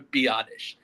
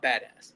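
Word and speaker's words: Biadasz: Tyler Biottish. I was have I was saying badass so much on last episode. It's Tyler Biottish. the center. That is his name is Tyler Biottish. Not badass.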